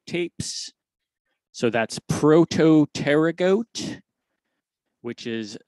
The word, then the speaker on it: Protopterygote: the word the story is is called the prototerra goat tapes so that's prototerra goat which is spelled very oddly and you know what i